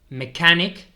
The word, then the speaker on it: mechanic: welter un soldador wilder mechanic mechanic veis que aquí pasa como con arquitect que la c h se pronuncia como una K mechanic Carpenter Carpenter electriction